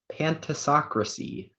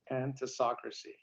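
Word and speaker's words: pantisocracy: All right, speller number 23, your word is pantasocracy. Pantasocracy. Could I have a meaning? Yes, pantasocracy is a utopian community in which all rule equally.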